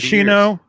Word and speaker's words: Hoshino: But how do you pronounce his name? Hoshino? Dave was exactly right. 90 Hoshino Gaki Yeah.